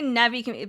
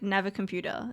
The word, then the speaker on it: Navicomputer: I say Navi, but they say like Navicomputer. They don't really pronounce the I much.